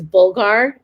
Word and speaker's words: bulgur: you don't have um in arabic it's called burgod which is bulgar that's how americans say it bulgar you can use um